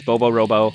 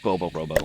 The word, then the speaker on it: Bobo Robo: of the game is bobo robo uh there's a silent t in robot but i i like bobo robo because it rhymes and it's fun to say bobo robo so what